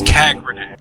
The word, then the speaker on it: Kagranek: Is it Kagranek? It's Kagranek. Kagranek, okay.